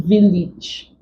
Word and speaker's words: village: Then we also have A, as in village. The A here is the short E sound.